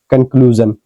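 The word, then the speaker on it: conclusion: कंक्लूजन क्या हो जाएगा? निष्कर्ष। तो इसमें भी कंक्लूजन में एस आई ओ एन से पहले यू है। तो कंक्लूजन इसलिए पढ़ रहे हैं इसको।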